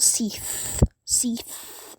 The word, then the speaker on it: Seath: And yeah, while I was thinking about the whole tanky thing, Seif is what, if you want to pronounce Seth. the dog, but Seath is the dragon.